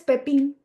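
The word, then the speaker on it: Pépin: que se llama Charles pepon se escribe Charles pepín para que así como pepino pero sin acento bueno acento en la e y eh Charles así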